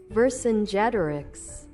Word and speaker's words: Vercingétorix: Vercingétorix, I am not going to pronounce that correctly. Holy crap. There are like 10 syllables. Vercingétorix, Vercingétorix. Yeah, close enough. Stupid American way of pronouncing it. Vercingétorix.